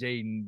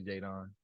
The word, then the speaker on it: Jaedon: pronounced it's pronounced Jaden, but I have it's three teammates named Jaden on my team last year, so that's why it got changed to Jadon.